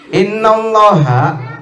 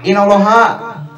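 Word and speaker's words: إِنَّ اللَّهَ: Ada alif di situ. Innallaha dengan inallaha beda.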